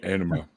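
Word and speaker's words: Ænima: Anima. It's spelled A-E-N-I-M-A. Not enema. No, it just sounds like enema.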